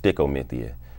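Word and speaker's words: stichomythia: Well, Sty-ko actually it's a Shakespearean term that's phonetically pronounced stickomithia, and it means verbal swordplay.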